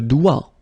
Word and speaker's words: doigt: Le doigt. Le doigt. Okay, so don't be frightened by this G because basically you don't pronounce it and then the final T you don't pronounce it. So the only thing you get to pronounce